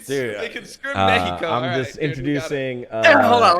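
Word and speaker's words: México: Wait, is that the proper way to say it? That is the way that Mexicanos would say it. Los Latinos. What? Jesus Christ. Fuck? Yeah. Mexico.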